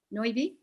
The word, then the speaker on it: Noibi: how do you say your last name naomi noivy and james wilson from georgia state uh they